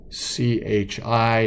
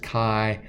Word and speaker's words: Chi: the Greek letter Chi in English that spelled CH I and it is pronounced Chi Chi for any gas we're using component 1